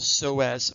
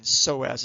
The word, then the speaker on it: psoas: slides ilio and then psoas is spelled with a silent p so it's a combination